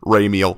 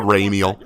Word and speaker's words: Ramiel: and it's for ramiel oh come say it correctly you must say it like gabriel don't say it what's raining your twitch notification that's so weak raymeal his name is lord ramiel no it's lord do